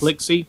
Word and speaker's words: Plixi: I can never pronounce Plixie. Plixie. Like a pixie and a pixel.